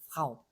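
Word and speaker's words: Frau: 자음이 두 개가 연달아 나올 때 프 이렇게 모음을 붙이지 말라고 했어요. 아니, 그럼 이거 어떻게 발음하라는 거냐. 아랫입술을 물었다가 하고 놓고 이렇게 에르 발음을 해주고 그 다음에 모음을 좀 주로 발음을 하는 그런 단어가 되겠어요. 그래서 프라우 거의 F하고 R가 잘 안 들릴 정도로 프라우 모음이 더 크게 들릴 정도로 이렇게 발음하시면 정확한 발음입니다.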